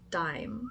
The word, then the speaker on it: Daim: I rewatched those videos that I linked and Liljegren, who's also from Sweden, pronounced it Daim.